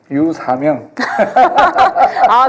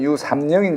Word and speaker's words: 류삼영: 제가 울산에 있을 땐 제 이름 유삼영인 줄 알았는데 KBS 아나운서 MBA 전부 다 유사명으로 발음하더라고요. 네, 사명이 맞죠. 국어 선생님께서 사명이 맞다. 사명 아니고요.